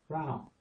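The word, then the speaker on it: เรา: The R with the ow. This is rolling down the hill on her head. Rao.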